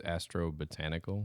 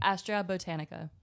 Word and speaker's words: Astra Botanica: So you said it was Astro Botanical? Astra Botanica.